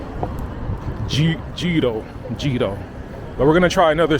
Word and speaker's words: gyro: I mean, the G isn't silent. I'm talking to you Spanish speaking folks out there. It's not hito. It's Gito.